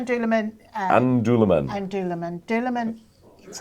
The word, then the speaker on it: Dúlamán: How do you pronounce it right? So it's called Dúlamán.